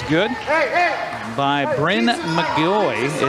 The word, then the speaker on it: McGaughy: free throw is good hey hey by Bren mgy it's spelled MC g a u g y but pronounced mgy one more free throw for the senior for